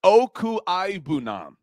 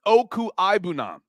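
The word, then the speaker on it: Okwuegbunam: Danquan Barkley doing it phonetically for me. Albert Okuibunam. Good job, Danquan Barkley. You guys got my back today. Albert Okuibunam.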